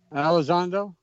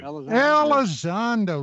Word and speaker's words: Elizondo: Elizondo? Yeah, thank you. Elizondo, Luis Elizondo.